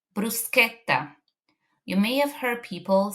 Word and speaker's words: bruschetta: Next is the C sound ch in words like bruseta. You may have heard people saying bruschetta but that is not correct.